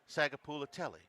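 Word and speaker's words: Sagapolutele: And Matt, how many trips to Hawaii are required before you can properly pronounce Sagapula-Telly? I practiced. I liked him so much. Charlie, you practiced? Jaron, Kiwi, Sagapula-Telly.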